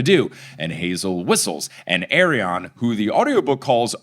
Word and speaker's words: Arion: I've been saying Arion because if I say Aryan, it sounds a little too much like so I've been really hitting that O in Arion.